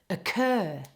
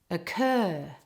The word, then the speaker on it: occur: It becomes more like So all the emphasis is on the second part. It sounds like this: occur, occur.